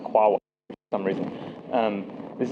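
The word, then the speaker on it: QAOA: in Python this is qaa this is It's pronounced quaa for some reason um this is the Quantum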